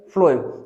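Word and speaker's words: phloem: फ्लोएम को अगर हम लोग उच्चारण करते हैं तो कुछ इस तरीके से आएगा, ठीक है, फ्लोएम।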